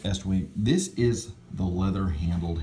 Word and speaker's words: Estwing: they advertise usa estwing it's pronounced estwing this is the leather